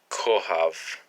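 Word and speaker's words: כוכב: So anyway, phonetically, so this is a word we're going to learn is kohav.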